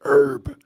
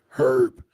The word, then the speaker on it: herb: Well, here in America, we pronounce it herb. But in Great Britain or the UK, as you will, they pronounce it with the H, herb.